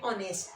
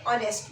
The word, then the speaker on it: honest: An honest man. H is silent here, so we use an.